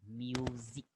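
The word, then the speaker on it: musique: Music. Music. Between vowels, S is Z sound. Music. Music. Like zoo park. Z.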